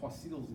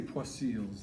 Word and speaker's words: Poiseuille: So I say Poiseuille's law, but it sounds a little bit more like another name for a cat, okay?